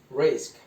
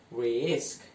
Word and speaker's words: risk: would be longer, and the word says risk, not risk.